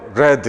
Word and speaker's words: read: 번 가보겠습니다 썸 복수극 리드 에어 레드 에어 발음이 예 책들의 입장에서는 읽는게 아니라 1 켜지는 거니까 얘는 p p 라고 하는 걸 알아야 됩니다 p&p 는 요철 자는 같다 하더라도 레드 라고 발음이 됩니다 그래서 배 아래